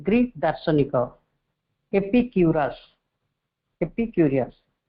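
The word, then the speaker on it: Epicurus: वेनेक भी जाने नथवे दर्शन ज ग्रीक दार्शनिक एपीक्यूरस एपीक्यूरियस बा एपिक्यूरस ज उच्चारण ले एपिक्यूरस का नामित दर्शन ग्रीक ना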